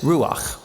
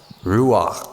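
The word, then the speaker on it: רוח: The Hebrew word is ru ru Yeah, you got to clear your throat at the end.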